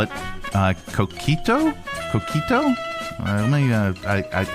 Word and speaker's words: coquito: Uh coito. Cockito. A co like a do but not toe. All, but it's it's spelled toe.